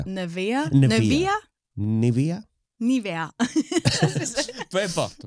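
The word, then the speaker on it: Nevaeh: e a Neev nevea mais en anglais c'est clairement nevea na Nivea Nivea peu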